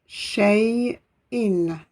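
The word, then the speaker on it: شيء: Vous avez ensuite la Hamza, qui se prononcera selon la voyelle qui est au-dessus ou au-dessous. Ici, vous avez le tanwin en I, In. Voilà, 2 I sous la lettre se prononce In.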